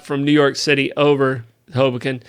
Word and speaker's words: Hoboken: New York City over hobokin right and uh hobo Ken I'll try and slow down um just got to just got a um accent a different syllable okay that's all all